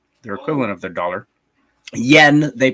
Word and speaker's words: yen: uh I did come back with one Japanese n this is a their their coin their dollar they're equivalent of their dollar Yen they pronounce it n uh and uh it's